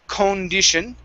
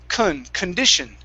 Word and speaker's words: condition: same same thing so the stress is on the d i so in this word we don't want to say condition it's kun so it's condition condition condition there you go good